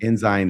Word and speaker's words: Ensign: Ensign and Zun. You're going to find all kinds of different people. Ensign is the correct one. I know it is, but I said Ensign, and I was raised to say it that way.